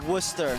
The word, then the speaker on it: Worcester: Worcester Worcester Worcester That's perfect.